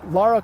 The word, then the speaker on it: Lara: Or go play Tomb Raider and watch Laura Lara I'm gonna say it right.